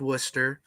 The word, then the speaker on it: Worcester: is Bishop of Worcester yes I know that doesn't look like it's pronounced Worcester don't fight me fight the British on this one this isn't my fault and he was also